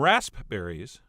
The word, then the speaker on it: raspberries: berries I have some rasp berries which I really think people should pronounce raspberries as well as some